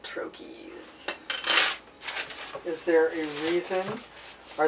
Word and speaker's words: troche: show in a minute some people pronounce it troche um or you can call it a lozenge but in Pharmacy world they're called trokies is there a reason